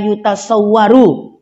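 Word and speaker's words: يتصور: Nah, jadi supaya paham, nanti bacanya huwallazi la yutasawwaru dengan dhammah, tapi diartikannya dengan la yumkinu.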